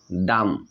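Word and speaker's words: dumb: যখন এম এন্ড বি যখন এম এন্ড বি এম এন্ড বি একসাথে থাকবে ইংলিশ ওয়ার্ডে আমরা বি উচ্চারণ করব না এখানে আমি কিছু এক্সাম্পল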